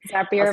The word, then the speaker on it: Zapier: Is it Zapier? Sorry. Zapier makes you happier.